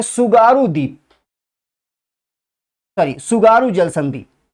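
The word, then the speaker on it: Tsugaru: है उसका नाम है सुगारू। टी साइलेंट है, इसमें ध्यान रखिएगा, सुसीमा में भी टी साइलेंट था, ठीक।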